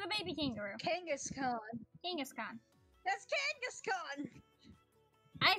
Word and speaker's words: Kangaskhan: It's a King Ash can. It's a giant kangaroo. A what? The giant kangaroo or the baby kangaroo? Kangaskhan. That's Kangaskhan!